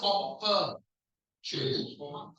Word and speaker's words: opportunity: Yeah, for some reason this is an O, but it's opportunity.